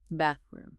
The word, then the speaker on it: bathroom: Okay, I want to pause on the pronunciation here because that that sound can be tricky. An excellent point. It's bathroom. You really have to put your tongue between your teeth for that.